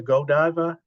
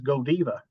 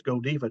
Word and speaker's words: Godiva: Brussels I always thought that this was the Godiva Chocolate here however I was Ed and I